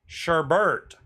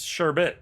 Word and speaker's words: sherbet: b e r t which is the way everybody says it Sherbert thank you Harry is the way everybody says it but it's sherbet is the way it's spelled just saying I'm only